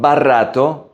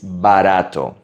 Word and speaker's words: barato: Again, it's a soft R. Not barato, it's barato.